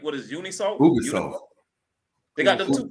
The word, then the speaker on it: Ubisoft: How you pronounce that again? Ubisoft.